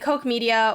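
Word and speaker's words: Koch Media: strange true colors and coke media which i believe that's how it's said it's spelled k-o-c-h um they are gonna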